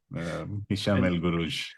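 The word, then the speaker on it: Hicham El Guerrouj: Hisham El Guruj. That's nice that's how you pronounce it.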